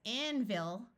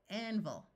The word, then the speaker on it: anvil: You could say it very clearly as anvil, but this is one of those words where the unaccented syllable tends to schwa, and the short I tends to turn to a short U, anvil.